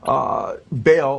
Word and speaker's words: Baal: And then Baal, or he says Bel, B-E-L, or Baal, he spells it B-A-A-L, how the Bible spells Baal or Baal, it's pronounced in Hebrew, which is the Canaanite god.